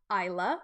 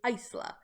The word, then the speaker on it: Isla: It is not Isla, it is not Isla, it is Isla.